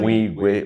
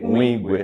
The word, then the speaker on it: Nwigwe: I hope I'm pronouncing that name right. Oh my Eyina God. Nwigwe. Nwigwe. Nwigwe.